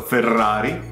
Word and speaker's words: Ferrari: Ferrari is like double R, so Ferrari.